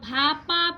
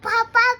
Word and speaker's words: ভাপা: পারতেছিল না পিঠা বলো ভাপা পিঠা ভাপা পিঠা ভাপা ভাপা এই বাবা বল ভাপা ভাপা পিতা জাপানিজ ভাষায় আসলে ভয়ের উচ্চারণটা সেভাবে নাই এজন্য ওদের ভা মানে ভা উচ্চারণ করতে গিয়ে দাঁত দুধ খুইলা যাইতেছে